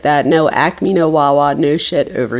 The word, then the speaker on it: Acme: Do you guys have an Acme near you? ACME. In Philly, we call it an Acme. And there's no A. It's only 2 syllables. We add a third.